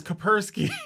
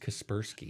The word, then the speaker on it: Kaspersky: the software for the shuttle was kapersky as i believe that and it's pronounced kaspersky okay jesus i don't